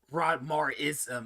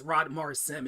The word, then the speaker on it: Rodmarsim: My last name is, so it's SIM, not ISM. It makes it sound like it's some sort of religion when you say Rodmar ism. It's Rodmar Sim. It's 3 syllables, not 4. There's not the I does not come before the S.